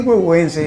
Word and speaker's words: Güegüence: ¿Y por qué huehuense? Porque huehue en náhuatl quiere decir viejo. Ahora, el huehuense es porque lleva una partícula, un sufijo que se escribe T, Z y N y se pronuncia C, huehuense.